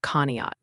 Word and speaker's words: Conneaut: Also, the chat's letting you know Conneaut, Ohio is pronounced Conneaut.